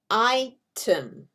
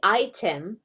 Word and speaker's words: item: Item. Some people will say item, but most people say, most U.S. speakers, U.S. English speakers say item. That schwa sound.